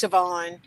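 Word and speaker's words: Siobhan: her friend sioban I I know it looks like Coban but it's sioban okay I put the pronunciation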